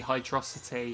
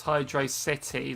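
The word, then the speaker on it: Hydrocity: it must be hydrosity if it was Hydro City then it would be a space in between wouldn't there that's why it's a massive thing on how it's pronounced say if there's no space then it should be hydrosity Hydro velocity yeah CU you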